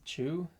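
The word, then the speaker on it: Chiu: they have a teacher sifu what's it chew is that how you say it i think it's c-h-i-u i think so i think it's chew i don't know i'm white man pretty sure it's chew i will just we'll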